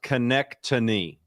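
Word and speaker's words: Konecny: That's pronounced Connectany. Just so you guys are right. Isn't it like Schenectady, New York? Yeah, it's the same.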